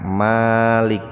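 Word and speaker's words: مالك: Kalau mimnya dibaca panjang subjek.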